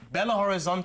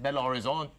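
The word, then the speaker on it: Belo Horizonte: different for us like Bella Horizon is how I would pronounce it but you would pronounce it Bella Horizon my my Belling there you go you see what I mean but it's spelled b e l o so I'm so confused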